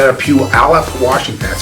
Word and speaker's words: Puyallup: If you look at the spelling, you would never be able to pronounce it.